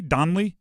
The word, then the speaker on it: Donley: behind only Kevin donlay Donley not pronounced or spelled like my name of University of St